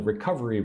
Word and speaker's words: recovery: Put the emphasis on the second syllable. One, two. Recovery. Oh, sorry. Four. Four syllables.